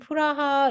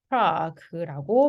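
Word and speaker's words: Prague: 우리 낭만의 도시 프라하 있잖아요. 이거는 얘네 발음 어떻게 한다? 프라그라고 발음을 합니다.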